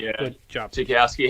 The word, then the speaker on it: Zukowski: And I apologize if I mispronounced your second name, Zukowski. Zukowski. Pronounced Zukowski, yeah. Good job. Zukowski.